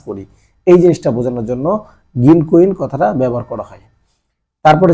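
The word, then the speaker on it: 銀行員: এখানেও দেখেন একটা ও আছে। এই যে মাঝখানে একটা ও আছে। এই ওটা হচ্ছে আগের ক আছে। এই কোটা টেনে পড়তে হবে। আবার তার মানে অর্থটা দ্বারা এরকম গিনকইন গিনকইন হ্যা এখানে গিরকুইন না গিনকইন গিনকইন মানে হচ্ছে ব্যাংকের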